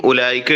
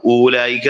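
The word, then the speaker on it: أولئك: പിന്നെ ഈ ഉലൈക എഴുതുമ്പോൾ ഒരു വാവ് കൊടുത്തിട്ടുണ്ട് ഹംസിന് ശേഷം, ആ വാവ് വായിക്കാൻ പാടില്ലാത്ത വാവുകളാണ്. ഊലായിക്ക എന്നല്ല, ഉലൈക. അത് അറബിയുടെ റൈറ്റിംഗിന്റെ കുറച്ച് നിയമങ്ങളുണ്ട്, എഴുതുന്ന കുറച്ച് നിയമങ്ങളുണ്ട്.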